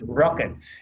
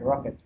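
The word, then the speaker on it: rkt: alternative right there's it pronounce this rocket and looks like rocket rocket science okay so we know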